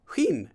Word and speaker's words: Huyn: Huyn is a good approximate pronunciation of my last name.